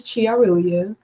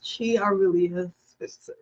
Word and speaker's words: ChiAurelia: My name is ChiAurelia.